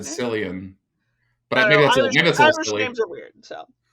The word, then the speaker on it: Cillian: In spite of, I believe Killian possibly is how you say it. I always said Cillian.